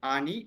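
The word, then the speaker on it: אני: All of is silent. So we say only A. Then Nun. Ani. Ani. Ani or Ani.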